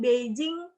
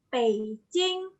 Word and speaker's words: Beijing: ada tulisan Beijing itu dibaca bukan Beijing tapi apa teman-teman fetching Beijing karena b dalam bahasa Mandarin di bunyinya dibunyikannya p j dalam bahasa Mandarin dibunyikannya seperti C Jadi dibacanya Pei Jing bukan Beijing lagi painting jadi misalkan ada